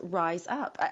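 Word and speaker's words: Rize Up: Actually, the name of your business, your company is Rise Up. I love the way it's spelled, by the way. So it's R-I-Z-E, right? Yes, that's correct. Rise up. And that's awesome because you're elevating yourself.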